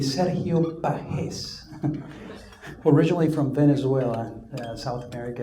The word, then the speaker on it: Sergio Pages: My name is Sergio Pages. If you were to pronounce it right, it would be Serio Pahes, originally from Venezuela, South America.